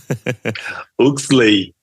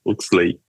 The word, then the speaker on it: Huxley: Salve, salve, Hurley Dias.